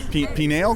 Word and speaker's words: pineal: Pineal gland? Penis gland. It's not the penis gland, it's the pineal gland.